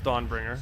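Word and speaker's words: Dawnbringer: if he is the dog bringer I do not pronounce it that way I pronounce it definitely is dawn bringer yeah he'll poke me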